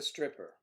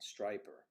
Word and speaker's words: striper: And there is the stripper. Oops. Oh, the Y is a long I sound, striper.